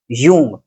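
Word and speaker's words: Jung: जो एक स्पेलिंग है जे यू एन जी। कई लोग इसे जंग पढ़ते हैं। कई लोग इसे जंग पढ़ते हैं। लेकिन एक्चुअल प्रोनाउंसिएशन इसका होता है कार्ल यंग।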